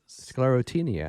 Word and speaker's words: Sclerotinia: Sclerotinia. And I'll spell it.